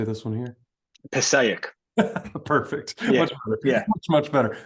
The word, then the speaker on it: Passaic: and how do you say this one here Passaic perfect yeah much much better especially with your